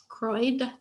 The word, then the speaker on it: Croyd: is um croyd i always like to say that because no one knows how to say it croid um and it's fun